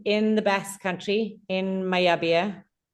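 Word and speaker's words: Mallabia: So it's our bikes are assembled in the Basque Country in Mayabia. It's pronounced when you have double L's, right? The two L's become a Y.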